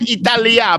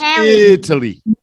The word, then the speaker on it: Italy: it's not Italia, but this is interest 13. So I don't start getting strict on pronunciation until we get into the 20s. Italy. But it's Italy, not Italia.